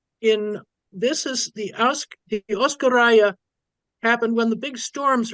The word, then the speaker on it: Oskoreia: translation of oscara okay hey oscara you pronounce it properly you got it he' been working on